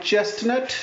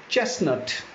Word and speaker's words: chestnut: Then we have this, it's a nut, T is silent. It's not chestnut, it's chestnut, chestnut.